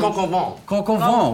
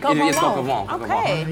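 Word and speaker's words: coq au vin: go for, I don't even know how to pronounce it. It's like a chicken, it's a French name. Coq-au-vent. Well done. Oh, is that it? Coq-au-vent.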